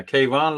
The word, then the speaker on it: Kayvon: Yeah, Kayvon, like Stevie Ray Vaughan.